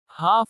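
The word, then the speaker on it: half: जब I, A, O या के बाद आता है तो L का उच्चारण नहीं होता। काम शांत। हाफ आधा।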